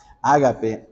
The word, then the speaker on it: ágape: Ágape, ágape o agape, según la pronunciación, ¿verdad? Ágape o agape, no hay problema en eso.